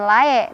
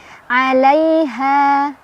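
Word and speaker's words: عليها: Alai ada harf lin karena ada ya sukun sebelumnya ada huruf berbaris fathah. Dibacanya pendek aja, dilunakan ya, dilembutkan. Lai, bukan lae tapi lai. Alaiha.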